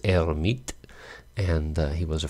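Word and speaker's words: Hermite: the her herit polinomial hermit I guess most Americans say French pronunciation is erit and uh he was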